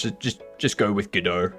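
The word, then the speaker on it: Godot: So, a lot of people pronounce it GDAU with the silent t uh because it was named after the uh French play Waiting for GDAU. Um there are people that pronounce it God do.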